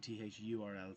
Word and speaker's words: thurl: They're both pronounced the same way, but one with an I in the middle and one with a U, Thirl and Thurl.